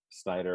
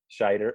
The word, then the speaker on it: Scheider: I think Roy Schneider or Snyder or whatever we pronounce it. Scheider. It's not even, there's no N in it.